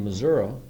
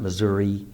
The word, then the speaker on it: Missouri: got a report of a cattle mutilation in missoui and that's how it's pronounced by the way missou not Missouri Damn Yankees um it's uh uh not too